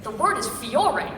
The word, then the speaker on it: Fiore: It was written Fiore, which is flower in Italian. And there was a note that said, please pronounce this Fiole with an L.